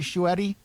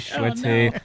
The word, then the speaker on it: Schuette: Schuette is So I've heard Schuette, Schuette. It's German, I believe. I've also heard that it's French. I've heard German people say, no, you're saying it wrong. It's pronounced Schuette or something like that.